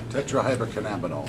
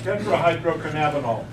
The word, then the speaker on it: tetrahydrocannabinol: Tetrahydrocannabinol. Tetrahydrocannabinol. Yeah, I can't pronounce that.